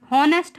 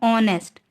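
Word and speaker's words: honest: वैसे ही ऑनेस्ट, हॉनेस्ट हम इसको नहीं हम प्रोनाउंस करेंगे, क्या बोलते हैं हम इसको, ऑनेस्ट। तो एच यहाँ भी साइलेंट है इसलिए ओ क्या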